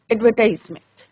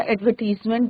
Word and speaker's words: advertisement: Today we are going to start our next topic in writing section, that is एडवर्टाइजमेंट। तो बच्चों, एडवर्टाइजमेंट या एडवर्टीजमेंट दोनों आप pronunciation कर सकते हैं।